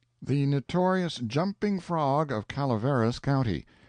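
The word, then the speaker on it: Calaveras: the notorious jumping frog of Calaveris County, pronounced Calaveris.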